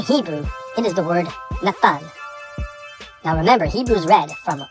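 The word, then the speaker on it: נתן: In Hebrew, it is the word Nathan. Now remember, Hebrew's read from right to left. Nathan is spelled Nun, Ta, Nun.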